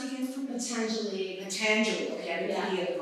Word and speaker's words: Patanjali: And can you pronounce it again for me? Potentially. Patanjali.